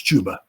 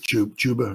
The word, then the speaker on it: Chuba: I know it's Chuba. I think Chuba or something like that, but it rhymes with Hubbard, so I'm calling him Chuba Hubbard.